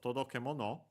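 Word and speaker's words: 届け物: Yeah, so todokemono unaccented, so be careful.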